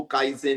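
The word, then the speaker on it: Kaizen: अभी बताता हूं भावेश की जैपनीज लैंग्वेज में एक शब्द होता है जिसको काइजेन बोलते हैं।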